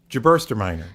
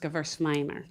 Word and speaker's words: Gewürztraminer: Jabursterminer. No. You don't say the tra, okay? So it's actually just Gewürztraminer. That the tra part is silent.